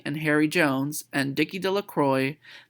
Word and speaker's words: Delacroix: Harry Jones and Dicky Delacroix the villagers pronounced her name Delacroix eventually made a great